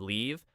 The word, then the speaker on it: leave: Yes, live has a short I like sit and leave has a long e sound.